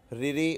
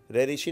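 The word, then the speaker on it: ऋ: आ, छोटी, छोटा ऊ, रिरी और लिरी। देखिए आपके सामने है, छोटा, छोटी, छोटा ऊ, रिरी और लिरी। शुद्ध उच्चारण फ्रेंड यही होता है, रिरी और लिरी, रेरिशी नहीं बोलते, रिरी और लिरी।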